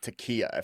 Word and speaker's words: taqiyya: No, and I think you bring up something that most Americans don't know is the concept of taqiyya, if I pronounce that correctly, right?